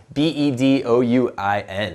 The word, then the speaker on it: Bedouin: Bedouin, I almost mispronounced it. B-E-D-O-U-I-N, all right?